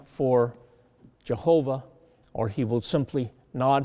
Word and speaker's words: Jehovah: name the name is JV h v or Jehovah is the way we pronounce it or Yahweh it's the same word